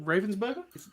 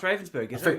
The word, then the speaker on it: Ravensburger: Was it Ravensburger? No, it's Ravensburger. My apologies. I think it depends on who's published it in what region. Oh yeah, but I've heard Ravensburger here.